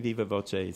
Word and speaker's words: viva voce: That's Viva v o c a e and I'm giving it kind of an Italian pronunciation. It's Latin for by word of mouth. I'm not sure if it would be pronounced differently in in uh Latin or Spanish, but I'm saying Viva Voce so I can follow the uh Italian spelling.